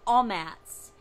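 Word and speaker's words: amats: So the word spelling of it, A-M-A-T-S, A-M-A-T-S, a mats, but in Hebrew, it's pronounced all mats.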